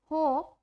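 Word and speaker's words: hope: अगर आपका ई वर्ड के लास्ट में आता है तो ई की साउंड नहीं आती है। Example cake, Apple, होप।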